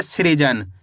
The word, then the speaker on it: सृजन: तो अपन स को कैसे पढ़ेंगे? श्री करके है। स में ऋ की मात्रा है श्री ज न। तो मिलके बन जाएगा सृजन। कैसे पढ़ेंगे? सृजन।